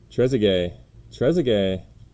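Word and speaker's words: Trézéguet: they just told me how to say it trezzigay we got out of 199 this time 196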